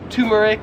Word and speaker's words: turmeric: turmeric pronounce it is this spice right here so I would pronounce this as turmeric however in Australia they would pronounce it as turmeric like you have a tumor turmeric turmeric you get